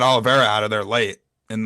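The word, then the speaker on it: Oliveira: Uh well no he did he he did fight Alivera recently. I I had I mispronounced that. But um yeah he almost had Olivera out of there late in the the recent fight.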